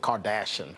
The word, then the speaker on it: Kardashian: But you should have pronounced it Kardashian. Kardashian. That's what Kanye would have done.